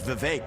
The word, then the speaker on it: Vivek: My name's Vivek. It rhymes with cake.